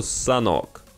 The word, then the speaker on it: Sanhok: На данный момент разработчики определились с названием карты, произносится оно «Санок».